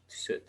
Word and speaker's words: suit: Nah, suit. Bacanya suit, suit, bukan sweet ya.